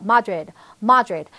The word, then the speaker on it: Madrid: 그리고 마드리드가 아니고요. Madrid 이런 식으로 발음이 됩니다.